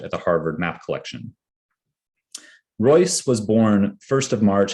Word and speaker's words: Royce: the two men's names, he encouraged Erwin to pronounce his last name as Royce, which he later adopted in his teaching.